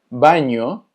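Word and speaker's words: banho: se escucha igual que la ñ, pero se escribe NH. Por ejemplo, baño se escucha exactamente igual, pero se escribe con NH.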